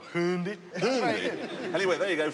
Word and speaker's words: Hyundai: And you call it a Hyundai. I prefer Hyundai.